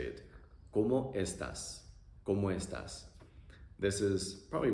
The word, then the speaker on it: ¿Cómo estás?: ¿Cómo estás? Pronunciation is also very simple. O, e, a.